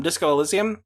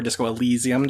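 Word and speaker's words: Disco Elysium: Um, Disco Alissium or Disco Allesium depending on your preferred pronunciation.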